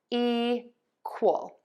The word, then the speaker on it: equal: So to pronounce these words, we are going to stress syllable one in both of these root words. So we have fer-dul and equal. So fertile and equal.